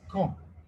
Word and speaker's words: quand: A French friend said he was going to get married, and I wanted to ask him like when, like quand. And in Oui. fact, I mispronounced it, and I said con, which means like dickhead.